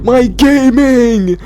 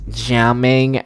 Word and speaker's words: Gaming: and I've got my gaming! I've got gaming! He's right here. I'm gonna put some artifacts on gaming, okay? Actually, Tao, it's pronounced jamming, not gaming, okay? Jamming is a Cantonese pronunciation.